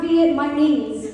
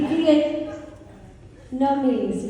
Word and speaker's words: Vietnamese: And he's like, it is not Viet, my knees. It would be Vietnamese.